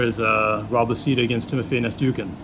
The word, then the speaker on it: Nastyukhin: Now, another fight I'm looking forward to on there is Rob Lasita against Timofey Nastyukhin. Is that how you pronounce his name? Nastyukhin, yeah. Nastyukhin. Yeah.